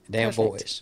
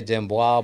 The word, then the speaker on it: Damboise: I pronounced it right you did damn voice yeah you can say dimwa but it's a little that's a little funky but yeah um damn boys is a better song okay like damn girls